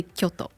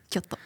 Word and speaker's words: Kyoto: right yes well yeah we say Kyoto Kyoto yeah is that better Kyoto you kind of have to have an accent right it's a little bit of an accent so uh how long